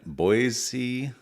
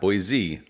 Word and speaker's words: Boise: We are in our new studio here in Boise, Idaho. Not Boise, Boise, Idaho.